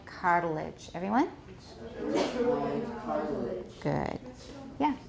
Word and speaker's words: arytenoid: My dictionary has a stress on the third syllable. Arytenoid. Arytenoid. Huh? Arytenoid. They're wrong. They're wrong. They're wrong. I've heard these talked about in many 影片. And what I've heard is arytenoid.